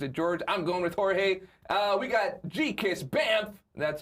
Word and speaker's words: Jorge: Jorge Balderas. Well, I could have said George, but I'm thinking it's Jorge.